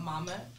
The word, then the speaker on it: MAMHA: It's called Mama, and it's spelled MAMHA, and it stands for Make Africa My Home Again.